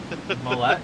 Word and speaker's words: Millette: It seems like you say it more French. That's the Canadian in me, I guess. I say it like Gillette. Millet?